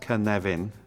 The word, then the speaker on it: Cynefin: this is the canadian framework pronounced cannavin for those of you who don't speak welsh now the origin of